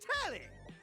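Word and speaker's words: Telly: The name's Tally. rhymes with Nelly.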